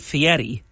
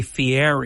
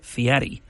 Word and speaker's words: Fieri: it's got to be good chicken guy he pronounces it Fetti you mere mortals might say fi but it's not really Fier it's fiti um but leave that to your train broadcasting